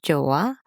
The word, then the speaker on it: Joah: And as you know, I am your host Joah, uh, which is short for Joanie. The H is silent.